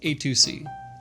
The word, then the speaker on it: AytuC: First off, it's pronounced AytuC, but you can say it however you like.